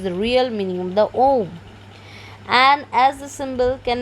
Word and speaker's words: Om: and this is the OM and the OM only because these three letters are Uma a u m pronounced in combination as oh May will be